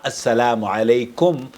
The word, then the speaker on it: السلام علیکم: بتا دی ہے کہ سلام کا طریقہ السلام علیکم، یہ صحیح تلفظ ہے۔ السلام علیکم، یا اس